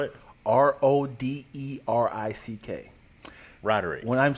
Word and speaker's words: Roderick: r i c k also there's no G you thought it was